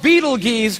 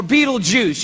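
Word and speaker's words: Betelgeuse: heard about this star it's called Beetle geese or Beetle Juice you can pick your pronunciation I'm obviously going with Beetle Juice and Beetle Juice is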